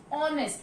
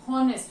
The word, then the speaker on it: honest: this word there is honest, means H is silent there. We are not pronouncing H, honest, we are saying honest.